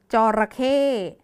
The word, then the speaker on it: จระเข้: เอง ค่ะ เด็ก ๆ จระเข้ มี 3 พยางค์ นะ คะ แต่ ออก เสียง ไม่ มี ตัว สะกด เลย สัก พยางค์ นึง เพราะ ฉะนั้น จระเข้ เป็น